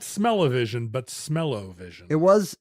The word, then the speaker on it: Smell-O-Vision: smello Vision it was it was styled smell O vision but it was clearly a pun on television so I don't know if we're wrong to pronounce it to rhyme with television like smellivision smis are we going